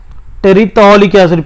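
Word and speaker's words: terephthalic acid: इसका नाम टेरिटॉलिक एसिड, P silent रहता।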